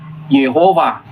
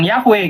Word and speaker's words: Yehova: Dibacanya Yehova. Ya bukan Yahweh gitu. Yahweh mau cari dimanapun nggak bakal ketemu.